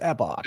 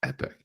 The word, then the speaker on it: epoch: It's No, it's epoch. Is it risky? No, it's epic. It's epoch. Epoch. It's an epoch.